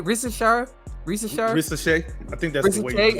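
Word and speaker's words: Risacher: I think ER is pronounced as A. Yeah. That's right. Yeah. All right. So it's not that I don't like Rissachet.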